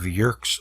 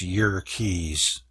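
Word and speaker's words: Yerkes: States Naval Observatory and Dr W hiltner of JK's Observatory actually it's y Keys Wikipedia says to pronounce it that way y Keys Observatory found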